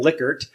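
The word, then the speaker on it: Likert: The Lyker scale, which everyone pronounces his name wrong pretty much. I hope I got it right in saying Lickard.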